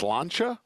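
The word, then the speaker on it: Sláinte: Yeah, I believe it's pronounced Slancha. That's what I'm told by Hillary Hutchison from NYRA Bets. It means cheers in Gaelic, actually.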